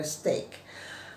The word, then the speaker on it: steak: juga saya paham gitu kalau maksudnya dia tuh stek itu kan stek bukan Oh ya tapi kalau misalnya orang asing mungkin dikiranya stick gitu stick tongkat kesel gitu ya yaitu pengucapannya benar steak kemudian ada lagi MOS